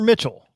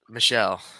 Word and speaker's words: Michel: um yeah when he's michelle or mitchell michelle that's how they pronounce it yeah i know [